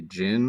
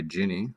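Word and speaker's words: jinn: kind of weird so a gin or you can call it a ginny with an i which sort of sounds like the word genie right and remembering these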